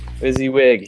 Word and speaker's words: WYSIWYG: 40 world of coming to rely on a whizzy whizzy kind of interface is that is that how you say it wysiwyg this week busy wig yep that's uh that's it have to be